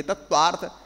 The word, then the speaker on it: तत्वार्थ: तत्वार्थ, तो तत्व प्लस आर्थ नहीं है, तत्व प्लस अर्थ है, तो ये मतलब बहुत महत्वपूर्ण चीजें हैं।